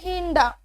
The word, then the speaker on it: hinder: Second one अगर हम spelling check करें तो बच्चों लिखे हुए HINDER, आर जो है उसे हम प्रोनाउंस नहीं करेंगे, ये वर्ड हम इसे प्रोनाउंस करेंगे, वर्ड हम रीड करेंगे हिंडा, यानी कि रुकावट।